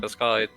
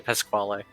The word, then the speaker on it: Pasquale: In fact, I'm gonna go find Pau because I'm pretty sure she wants to find Pascal. Pascal too, Pasquale. Yeah, Technically, the correct pronunciation of his name.